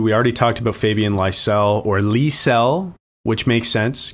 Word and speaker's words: Lysell: Fabian Lysell, not Lysell.